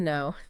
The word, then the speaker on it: know: Now, let's look at a silent letter situation where the K disappears entirely. Okay. No. I really want to get to know. No. No. Like knowledge, right? Versus now.